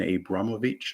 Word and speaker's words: Abramovich: trudeau's recent sanctions against a russian oligarch roman abramovich i think it's pronounced uh who's a bazillionaire apparently and owns